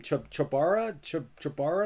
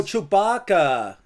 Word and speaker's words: Chewbacca: How do you say his name? Chubara? Is that right? Oh, you don't know Chewbacca from Star Wars? Oh, Chewbacca. Oh, I see what go. it is. There you go.